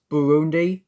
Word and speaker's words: Burundi: They are pronounced Burundi, Lesotho, and Malawi.